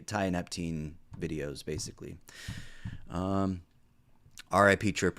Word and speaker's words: tianeptine: right before I go on I think it's tianeptine pronunciation yep tianeptine so uh yeah I did that okay the